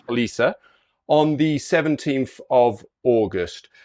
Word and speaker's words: Roliça: It looks like Rolica, I think it's pronounced wrong, yeah. Roliça, on the 17th of August.